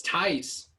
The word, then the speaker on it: Tice: ] how about you say his name right first yeah it's tice he's german if there's one thing